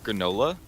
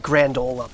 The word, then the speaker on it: granola: you're pronouncing it weird granola you were saying like grandola bars granola bars why you putting a D in it I'm not granola bars